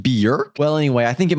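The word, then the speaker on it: Björk: This drawing comes to us by way of Medula, who says it's a drawing of Bjork, pronounced Bjork.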